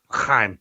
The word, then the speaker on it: L'chaim: Just say it right, Mike. L'chaim. Yeah. It's like you're gonna cough up something.